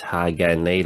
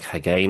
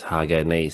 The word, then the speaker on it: Hagane: A lot of people commented saying it's Hagane, like split into three sort of parts. I thought it was like Hagane or something, but I guess it's Hagane.